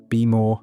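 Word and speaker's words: BMO: Now, BM O BM O be more phonetically Beimo is one of the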